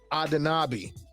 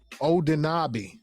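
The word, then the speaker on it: Anunoby: second round pick for OG adabi odabi is how you pronounce it so let's um let's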